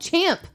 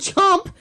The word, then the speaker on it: Champ: like champ he's called champ shut it champ okay he's not called chomp nobody calls him that champ french pronunciation we're